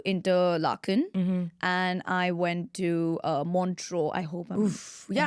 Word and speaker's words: Montreux: So I went to Interlaken and I went to Montreux. I hope I'm. Yeah, I hope I'm- Montreux.